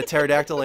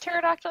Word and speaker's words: pterodactyl: better nerdy effect get pterodactyl enter did people get turned off van der I missed a - I was watching a snapchat I have failed because the P is silent but I mean I